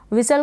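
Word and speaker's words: whistle: विसल पढ़ा, इसको क्या प्रोनाउंस किया, विसल, टी साइलेंट है और ई का उच्चारण नहीं हो रहा है। विसल का मतलब है सीटी बजाना, विसल, सीटी बजाना।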